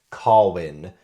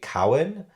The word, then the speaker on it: Carwyn: And I did look up on YouTube, because like Google said Corwin for the main character, Corwin. But I looked up on YouTube. I looked up some actual Welsh people speaking and saying the name. And they say Cowan.